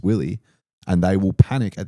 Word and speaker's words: Willey: Majority of people get your last name wrong, don't they? They do. They say WY. They're not comfortable saying Willie.